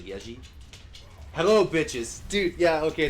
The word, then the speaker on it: Yezi: It's like Yezi, but Y-E-Z-I, but I think it's pronounced like Yeji.